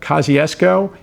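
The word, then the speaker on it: Kościuszko: and some references his name is Samuel Kachusco Zuk. Of course, Chukusco or um sometimes pronounced a Kaziesco is the Polish American Revolutionary War general.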